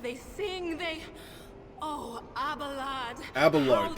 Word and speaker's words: Abelard: Abelard, that's how you say his name.